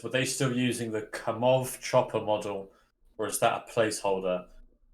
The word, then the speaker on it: Kamov: It's just since I'm Russian and I know the real pronunciation, and the real pronunciation of this manufacturer is Kamov, not Kamov.